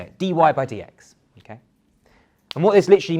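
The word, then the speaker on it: dy/dx: So this we would say as dy by dx. That's literally how you say it, dy by dx.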